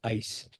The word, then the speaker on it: ICE: sus siglas en inglés, Ice y pronunciamos ACE.